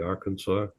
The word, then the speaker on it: Arkansas: It looks like our Kansas, but it's pronounced locally Arkansas.